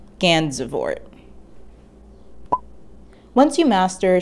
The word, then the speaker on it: Gansevoort: had a military fort that bore his name gandavor is pronounced ganzevoort once you master saying skermahorn the pronunciation of